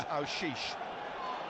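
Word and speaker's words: Aouchiche: We're having a debate downstairs about how it's pronounced. Ashish. Colin White tells me it's Aushish.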